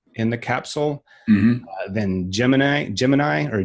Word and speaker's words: Gemini: were single occupants in the capsule mm-hmm then Gemini Gemini or Gemini as they like to make sure it's pronounced had two pilots astronaut occupants and then